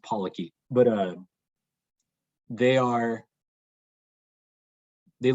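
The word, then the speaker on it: polychaete: e t e um i'm pretty sure it's pronounced pollocky but uh they are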